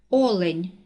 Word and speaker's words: олень: на перший склад олень наголос падає на перший склад псевдонім наголос падає на